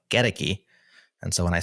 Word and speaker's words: Goedecke: The only problem is I've been pronouncing your name Sean Godki in my head. And now after years of reading you, I know it's Sean Geti.